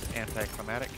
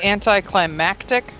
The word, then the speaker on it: anticlimactic: thisare sample acquired that anti climatic want to say anticlimactic get out of there feel like that's correct an that climatic I know that I think that's the right way to say it and I just want